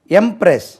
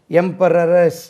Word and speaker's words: empress: எம்ப்ரெஸ், அதில் ஒரு சின்ன சேஞ்ச் வருது. எம்பரர், EMPEROR, இதில் எம்ப்ரெஸ், எம்பரர், எம்ப்ரெஸ், EMPRESS. சேஞ்ச் பாருங்கள். எம்பரரஸ் அப்படி இல்லை, எம்பரர், எம்பரஸ், EMPRESS, எம்பரஸ்.